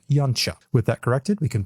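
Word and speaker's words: Yautja: thus cut himself confused the actual pronunciation of the most used species named for the predator species is something like young chuck with that corrected we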